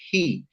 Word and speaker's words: Yhi: YHI is pronounced as he.